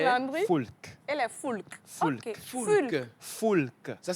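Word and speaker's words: Foulques: Et les Foulk. Les Landry Foulk. et les Foulk. Foulk. Ok. Foulk. Foulk. Ça s'écrit Foulk.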